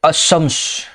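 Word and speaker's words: الشمس: मुसद्दद होता है, जैसे अशम्स, अद्दुहा, अर्रहीम। यानी क्या है, लाम अलिफ लाम जो है यहाँ, लाम और क्या है यहाँ, अलिफ और लाम साइलेंट रहेगा, समझ गए, उसका तलफ़ुज़ नहीं होगा।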